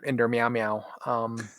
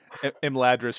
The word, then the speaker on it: Imladris: to do Siege of Inder Meow Meow. Imladris for those who aren't in on our regional butchering of your pronunciation.